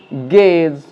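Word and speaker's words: guess: আর এখানে আমরা ইউ এর যে উচ্চারণ সেটা আমরা পাচ্ছি না, তাই ইউ এখানে সাইলেন্ট, তাই এটাকে আমরা বলবো গেজ, গেস্ট, গিটার, গার্ড।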